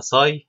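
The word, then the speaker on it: psi: فدي برولي قال انه في ويف بروبرتي للجسم، واحنا دلوقتي عايزين نوصفها، هنسمي الويف اللي بتمثل الجسم بالرمز ابساي، وفي ناس بينطقوها ساي من غير البي، ودي هنسميها الويف فانكشن، الساي دي هنسميها الويف فانكشن او الستيت فانكشن.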